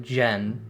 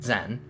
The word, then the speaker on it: Zen: Your name is Zen. It's pronounced more like Jen than Zen.